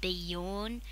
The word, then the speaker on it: Bjorn: I read in a comment that his name isn't pronounced Bjorn. It's pronounced Bjorn with a J as a Y.